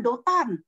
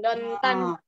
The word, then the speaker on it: Dotan: Oh iya, tadi kakak-kakakmu aku dengar ya, mereka mau pergi ke Dotan. Nah, bukan sedotan loh ya, namanya Dotan ini kotanya ya, tempatnya nih, Dotan. Daerahnya. Iya, Dotan. Terus bacanya akhirnya, bukan Dontan.